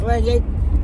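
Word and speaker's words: Lagniappe: It was Louisiana Cuisine, MANNY'S Mom, but now it's Louisiana Cuisine, and it's pronounced Lagnac, but it's Lagnac, and that means something extra.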